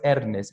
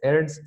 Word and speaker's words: Ernst: No es Ernest, es Ernst Cassirer.